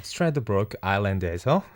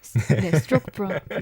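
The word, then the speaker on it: Stradbroke Island: 야, 스트라드브로크 아일랜드에서 맞나요, 발음? 네, 스트로크브로크. 예.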